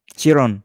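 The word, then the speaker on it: Cirone: Saya ada buku Anthony Chiron. Oh iya. Bacanya Chiron. Chiron. Chiron ya.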